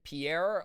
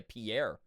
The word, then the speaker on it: Pierre: I've been to uh South Dakota and the capital there everyone pronounces uh Pierre like Pier, not the French way like everyone else says. Oh yeah, I would say Pierre, but it's Pier Pier South Dakota.